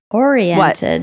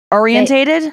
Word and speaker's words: oriented: People often give this word an extra syllable. Oriented. What? Orientated? Oriented. Yeah, they say orientated.